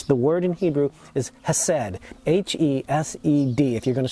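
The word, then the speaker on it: hesed: has for us the word in hebrew is hased h-e-s-e-d if you're going to spell it in english said and it's the loving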